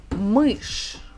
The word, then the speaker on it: мышь: So if you think of, maybe if it's difficult for you to pronounce this буква Ы, you can try to think of maybe taking a chopstick or a spoon or anything and just try to say letter E, E, and try to